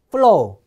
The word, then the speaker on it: flow: 발음 하나 배우고 가죠 F 발음은 자 윈 이빨로 아랫 입수를 물어보세요 응 래서 여기서 프 해 보세요 프 프서 어 어 어 자 따라요 다시 한번 어 알겠죠 자요 플로우도 윈 이빨로 아래 입수를 문 상태에서 프 플로 해 보세요 프프 플로 Flow 자 그래서 플로 하면은